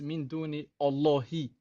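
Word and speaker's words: مِن دُونِ اللَّهِ: In Arabic, it's min duni Allahi. It's an I at the end of the word.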